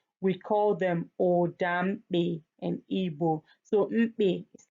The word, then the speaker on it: Igbo: And if you I'm aware that most people call our language Igbo. It's not Igbo. You can see it's GB together. So like saying Igbo.